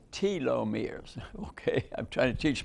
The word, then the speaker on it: telomeres: we'll discuss it in detail and and it pronounced telomeres okay I'm trying to teach myself actually uh